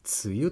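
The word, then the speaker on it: 梅雨: 梅の雨と書いて何と読むか分かりますか。これはつゆと読みます。それぞれの漢字を「つ」や「ゆ」とは読みません。 2つの漢字を合わせてつゆという読みの熟字訓です。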